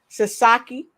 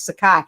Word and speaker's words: Sakai: with a phenomenal guest kathy sasaki did i say it right i know i said it wrong that's my nephew's name too don't tell y'all don't tell my mom that i'm on here pronouncing my nephew's name wrong it's sakai sakai oshiro she's with me